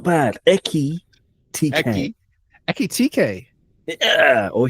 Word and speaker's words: Ekitike: signed that chap who I'm going to call Ekatike. It's not bad. Eki TK. Ekitike. Yeah, or Hugo if you want, or Ugo, because they don't pronounce the H. Ugo. Ugo Ekatike.